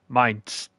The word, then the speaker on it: Mainz: Mainz.